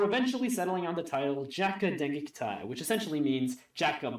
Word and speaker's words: J.A.K.Q.: And yes, it is pronounced J.A.K.Q. That's how the singer says it in the opening, so that's how I'm saying it.